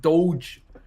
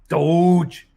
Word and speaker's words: Doge: everybody uh fantastic dogecoin uh bruce is called pronounced doge doge will we see 133 territory in gamestop i don't know we're 191.